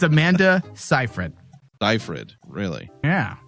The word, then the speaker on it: Seyfried: you got the first name right it's Amanda Seyfried by Fred really yeah 0 for 3 yeah